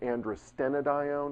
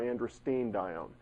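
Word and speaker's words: androstenedione: I just wrote Andro you'll hear it pronounced andrena diione or andrin diione from what I can tell either one is correct it just depends on who you're who you're speaking to so DHEA becomes andrine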